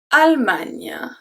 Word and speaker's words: Allemagne: I heard so many different pronunciations for the country before. I heard Allemagne, like you will say A-L-L in English, all. I heard Allemagne, I heard Allemagne, Allemagne, so many things. It's Allemagne. Allemagne.